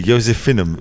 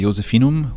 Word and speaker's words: Josephinum: The Josephinum Museum. Something like that. We should find out what that is. Hello, I'm working here as a guide at the Josephinum, which is a museum for the history of